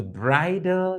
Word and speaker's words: bridle: them are called right this word is pronounced exactly the same as this they are both pronounced bridal bridal so please be careful